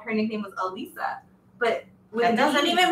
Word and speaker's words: Alyssa: See, Marty has a niece that is spelled like Alyssa but pronounced Elisa, and Elisa, wait, Alyssa, and then an Elisa spelled pronounced O-C.